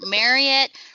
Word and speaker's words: Marriott: But just remember, Marriott rhymes with chariot. We don't say chariot, we say chariot.